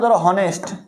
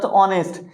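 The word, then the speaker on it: honest: plus ভাল এই পরে ভাল আছে এবং এই উচ্চারণটা হচ্ছে না আমরা কি দিব আওয়ার এরপরে হনেস্ট এটা হনেস্ট নাকি অনেস্ট এইযে দেখ এই এর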